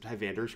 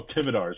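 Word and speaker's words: Tivadar: I'm waiting to see whoever picks up Tyvander's Crusade. How do you spell that card? Which card? Tyvander's Crusade? It's like a terrible anti-goblins card. Oh, Tividar's Crusade. Oh, Tividar. There's no N. I believe it's Tividar.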